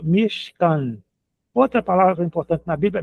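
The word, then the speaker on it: משכן: Esse chevá som, é só, é só para fechar a sílaba, vai ficar mich. Mich. E aqui o outro, a outra sílaba m can caf com camates embaixo é a k a e nun sofite aquele n no final e portanto mishcan outra palavra importante na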